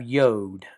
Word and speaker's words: yod: So we have tet and then we have yode.